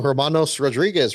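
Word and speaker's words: Hermanos Rodríguez: is is that how you say it UMO Hermanos Rodriguez road course yes yes yes yes the week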